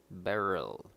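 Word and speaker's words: beryl: emerald right emerald it it's called barrel spelt with an e r y l barrel and it's uh it's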